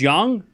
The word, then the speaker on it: Yang: It's pronounced young.